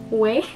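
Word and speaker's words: OUAI: And then another one for hair is this, I don't know how to pronounce this one, but it's spelled O-U-A-I way, whatever.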